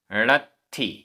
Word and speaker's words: णत्थि: य य णत्थि, आधा त थ, णत्थि, णत्थि।